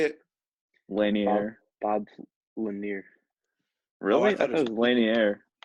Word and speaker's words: Lanier: Right, 71, Bob Lanier Lanier.